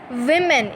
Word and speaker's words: women: Okay, it is not woman, it's women. It is pronounced as women.